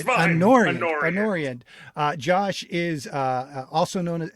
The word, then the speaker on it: Anoriand: Anoriand.